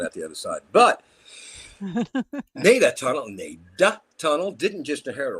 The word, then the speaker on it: Nada: Nada Tunnel, pronounced Nada.